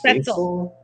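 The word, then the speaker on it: Spätzle: Spetzel. Spetzel. Spetzel. Okay, rhymes with pretzel with chicken.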